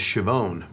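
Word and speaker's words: Schiavone: Uh the real pronunciation of the name is Shioone.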